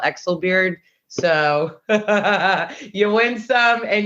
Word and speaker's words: Exelbierd: what's happening now first of all did I pronounce it correct these actual bird so close my last name is is Exel beard um you know growing up the youngest with